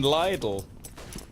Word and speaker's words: Lidl: that's just as bad little it's how you pronounce it it's what it's called you guys are weird it's what it's actually called yeah but everybody knows